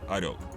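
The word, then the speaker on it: Орёл: «Союз», а на втором – пилотируемые корабли «Орел».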